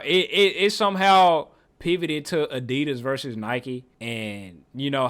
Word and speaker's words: Adidas: German guy is named after Adi Dassler. So it's Adidas.